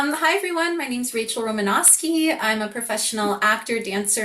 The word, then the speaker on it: Romanoski: Rachel Romanoski. Did I say it right? Almost, yeah. It- Romanoski, you're good.